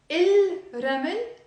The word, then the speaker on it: الرمل: حرف الر حرف شمسي. It's a sun letter. So نكتب الرمل. We write الرمل بس ما منلفظ اللام. We don't pronounce the lam.